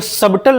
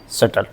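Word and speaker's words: subtle: एस यू बी टी एल ई इसको सबटल नहीं पढ़ेंगे। जैसे ही टी के पहले बी आएगा तो बी क्या हो जाएगा? साइलेंट। इसको पढ़ते हैं सटल।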